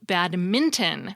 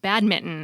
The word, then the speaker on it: badminton: big deal about how the game is called badminton with an N not badminton as many people say as though you're scolding a cat bad badminton I'm certainly